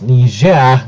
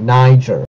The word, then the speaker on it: Niger: the French found a nearly complete all in Niger just another generic American pronunciation mistake it's Niger not Niger if you're talking about Nigeria then Nigeria you